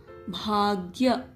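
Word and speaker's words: ಭಾಗ್ಯ: Ga has ya Vatakshara, so Gya. Bhagya.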